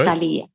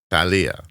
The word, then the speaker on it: Thalia: did I do it yes did I do Italia Thalia Thalia yeah that was good God damn right